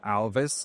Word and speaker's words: Alvys: Yeah, and I tell them, look, guys, you have to pronounce it like Elvis, and the reason behind